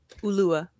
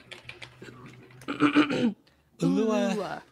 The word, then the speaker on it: Ulua: Ulua. Ulua. Mm-hmm. Accent on the Lou.